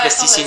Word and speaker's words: Plastiscines: Sans S, hein, les Ouais, plasticines. sans S. Enfin, si, avec un S, mais tu prononces pas.